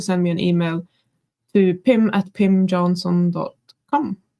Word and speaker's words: Pim: wrong again yeah but it's not Pam Johnson no um and it's not Prim no R I only